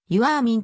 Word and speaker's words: ヨヘルミン: 元プロ野球選手ファーストネームは発音指示によるとゆあーみんとなっているトロントブルージェイズと